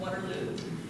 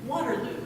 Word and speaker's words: Waterloo: a native Island from Waterloo and I had to practice the pronunciation of that because I always want to say Waterloo in the sort of ABBA style uh she is very